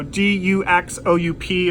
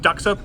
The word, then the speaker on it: Duxoup: She said, no, this is a wine, Duxoup, so D-U-X-O-U-P. It's not Duxoup, it's Duxoup. So interesting way to pronounce that, but a pretty fun wine.